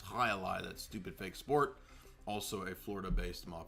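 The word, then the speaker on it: jai alai: And then there's the highali people were correcting me for I didn't know to pronounce it. It's not Jaai, it's Halai.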